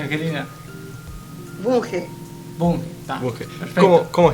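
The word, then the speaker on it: Vunge: ¿Cómo se pronuncia, Angelina? Bunge.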